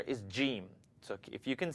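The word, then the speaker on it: جيم: The name of the letter is jim.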